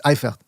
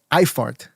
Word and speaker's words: Eifert: I think it's Eifert, because Bray pointed out on the Discord, and this was true, I think, that the zone commentators kept referring to Eifert as Eifart.